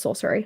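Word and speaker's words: Scoceris: And the last S is silent, so it's sorcery.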